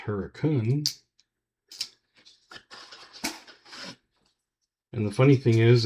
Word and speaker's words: Hurricane: It's spelled Hurricane, but it's pronounced Hurricane.